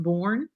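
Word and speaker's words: Boerne: to el paso and i think it's pronounced born texas shout out tonight shout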